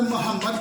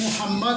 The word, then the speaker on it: محمد: لفظ اقبال ہوتا ہے۔ اکثر محمد پڑھ جاتے ہیں جبکہ اصل میں لفظ محمد ہوتا ہے، میم کے اوپر پیش آئے گی۔ قربان پڑھ جاتے ہیں